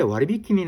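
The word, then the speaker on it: 割引: 코레 와리비키니 나니마스카 이렇게 물어보는 겁니다. 코레 요거는 이것이라는 뜻이고 와리비키 와리비키가 할인이라고 하는 단어입니다. 한자 자체도 할인이라고 쓰여 있죠.이 할인이라고 써 놓고 와리비키라고 읽는 겁니다.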